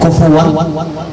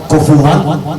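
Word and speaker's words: كفوا: ولم یکن له کفوا۔ ایسے ہی اب آگے 3 قرأتیں ہیں، کفوا کفوا اور کفوا احد، تینوں تجویدی اعتبار سے تلفظ صحیح ہے، تینوں صحیح نہیں ہیں،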